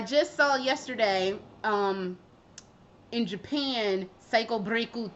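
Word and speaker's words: サイコブレイク: Yep, Thursday, October 19th is when Psycho Breaku Ni or Psycho Breaku 2 comes out. Or Psycho Break 2. Psycho Breaku. I do call it Psycho Breaku because I'm sure that's how it's pronounced in Japanese.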